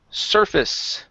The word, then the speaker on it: surface: up is the word surface right here instead of surface it's pronounced surface surface okay instead of su it's ER like you're saying her sir surface surface good job